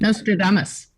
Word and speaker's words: Nostradamus: Let me see if I can pronounce this right. Nostradamus prophesied. Nostradamus.